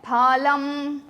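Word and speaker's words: फलम्: Fruit को कहते हैं फलम। हम इसे फ नहीं बोलेंगे। Do not say fa but try to say pha.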